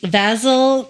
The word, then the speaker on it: Vasil: half there it is again not professional um vasil Toma what was the first one vasil v